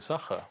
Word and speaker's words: Sacher: Wie spricht man das Hotel aus, in dem ich bin? Das Hotel Sacher, genau.